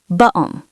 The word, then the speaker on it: button: In a clear received pronunciation or even a Cockney accent, we often replace the T with a stop in the throat. Bu'on.